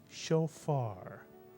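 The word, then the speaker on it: shofar: comms under the Fay first syllable would be show and the second syllable would be far put the word together and you get show far now there's a word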